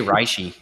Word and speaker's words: reishi: Or if we're Evan, where it's, how do you say it? I say reishi.